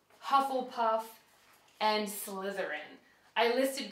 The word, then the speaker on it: Hufflepuff: the four Hogwart houses they're all pronounced the way they they look but I'm going to pronounce them just in case Gryffindor Ravenclaw Hufflepuff and and Slytherin I